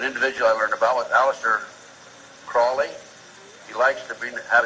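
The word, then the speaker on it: Aleister Crowley: i learned about with aleister crawley he likes to be have his name pronounced crowley to rhyme with holy and uh the statements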